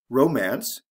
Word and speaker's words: romance: ic ending romance romantic we also have a shift in the stress pattern romance the first syllable is emphasize romantic the second syllable is emphasized why thrifty glossy lazy